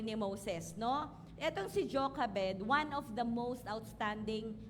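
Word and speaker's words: Jochebed: pino-pronounce natin siyang Josh bed ano pero na-research ko ang pronunciation pala niya ay Jokabed ayan so Exodus 2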